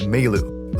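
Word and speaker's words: Mayl: As we leave the house, we're introduced to Meilu, or male. I know it's supposed to sound like male for email, but in the anime, her name is pronounced as Meilu, so I'm just gonna call her that.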